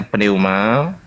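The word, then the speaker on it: πνεῦμα: Nah, ini bacanya pneuma. Ya. Pneuma, pi, mu, terus alfa, pneuma.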